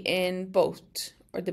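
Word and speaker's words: bó: Bo has a long o here. Bo means cow. Bo. So this long O just goes O, O, Bo. And it's like the B in boat, or the B O in boat.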